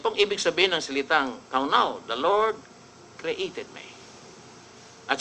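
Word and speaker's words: קָנָה: Kaunaw. Ang pronunciation talaga is kaunaw.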